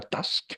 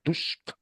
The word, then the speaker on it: Tusk: Gobierna el primer ministro, que es el señor, siempre olvidado Tusk, que no se pronuncia Task, se pronuncia Tusk, como Donald Tusk, eh,